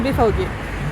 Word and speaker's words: BVG: En fait BFAog c'est BVG mais prononcé en allemand c'est BFAog.